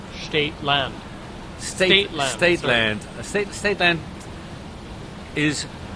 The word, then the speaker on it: Staete Landt: Because you're doing it the German way. Ah. And Abel Tasman was not a German. Right. Staete, that's German, and the Dutch would have said Staete Landt.